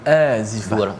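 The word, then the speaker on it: آزفة: Ini untuk mengingatkan kepada kita, wa anzirhum, pada ayat yang ke-18, berilah peringatan tentang yaumal, macam mana bacanya Ustaz, azifah ke azifah? Yaumal azifah. Dua harakat. Dua harakat ya.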